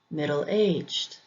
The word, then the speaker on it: middle-aged: Compound adjectives usually have the emphasis on the second syllable as well. Fat-free, fat-free. Middle-aged, middle-aged. Again, don't forget that not all English words follow this pattern either.